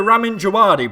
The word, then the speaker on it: Ramin Djawadi: Also, Ramin Djawadi breaks the 4th wall and plays a tune that sounds like a dive-bombing World War II Stuka.